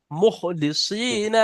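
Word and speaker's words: مخلصين: খ উচ্চারণ করেন, মুখলিসিনা মুখ লাহুদ্দিন।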